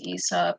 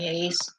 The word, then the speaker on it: Aesop: So I did want to read from I can't believe the word is pronounced Aesop. I could have sworn it was more like Ace.